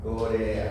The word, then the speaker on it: corea: Corea. ¿Ah? Corea. ¿Sí? Tres sílabas. No lleva tilde. Termina en A. Es vocal.